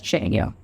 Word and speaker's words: Czechia: recognition on global stage, that is Czechia, pronounced as Czechia.